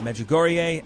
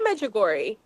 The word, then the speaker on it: Medjugorje: And today we'll be talking about Medjugorje and the Vatican's doctrinal office on last Thursday, kind of endorsing the devotion to Mary at the popular pilgrimage site in Bosnia.